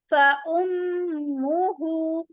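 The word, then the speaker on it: فَأُمُّهُ: फउम्मुहु, फउम्मुहु, फउम्मु, meme पर गुन्ना होगा। उम्मु, फउम्मुहु हाविया, हाविया, हा हुरूफे हलकी है, डीप थ्रोट से अदा होगा।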